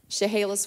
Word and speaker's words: Chehalis: Can you pronounce that again? Yeah. What is that? Chehalis, Washington.